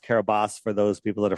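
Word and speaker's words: Kiribati: But if we look where Kab where Carabati is, I know it's pronounced Carabas for those people that are freaking out right now.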